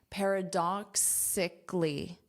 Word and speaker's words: paradoxically: Paradoxically. We have this K sound. Doxically. Repeat after me. Doxically. Now, this is the syllable stress.